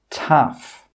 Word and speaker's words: tough: Some common examples are cough, laugh, tough. In all of these words, that GH sound is pronounced as an F sound, as a F sound.